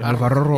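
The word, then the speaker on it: Álvaro: His name is Alvaro. I can speak Spanish a little bit. You can roll the R's. Thank you. Alvaro.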